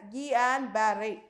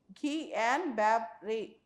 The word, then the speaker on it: Guillain-Barré: And more importantly, if you see Guillain-Barré syndrome, the pronunciation we have to call it as Guillain-Barré. Okay, Guillain-Barré.